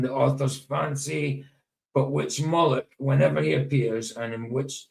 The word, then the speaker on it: Moloch: Right, so it says Moloch, sometimes pronounced as Moloch, is a name that